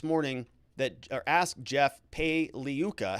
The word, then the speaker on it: Pagliuca: that, or asked Jeff Pagliuca, how do you say your name there, Jeff? And he said the G is silent like lasagna. So it's Pagliuca, not Pagliuca. So it's like lasagna.